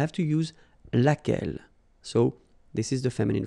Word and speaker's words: laquelle: And then the feminine form, so singular, we saw it laquelle, okay? So basically same rule, QU, U is not pronounced here.